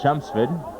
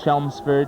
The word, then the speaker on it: Chelmsford: timeout on the field chumps food the chumps food folks not Chelmsford not Chen's with chum spit L is silent you may have guessed